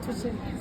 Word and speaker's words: Tutsheni: I'm here with, the special star Tutsheni. Am I pronouncing the surname correctly? Yeah, it's correct. Tutsheni.